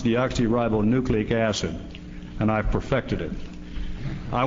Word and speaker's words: deoxyribonucleic acid: by the way I learned to do was pronounce it it's deoxyribonucleic acid and I've perfected it I wanted to know